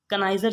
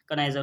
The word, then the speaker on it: connoisseur: कनाइजर की स्पेलिंग देख लीजिएगा, कनाइजर मिस होता है विशेषज्ञ, मतलब किसी चीज़ में निपुण हो वो।